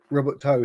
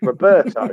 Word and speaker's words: Roberto: It is the Robert Toe, if you got what I mean. So yeah. Well, it's Roberto is the way we pronounce it.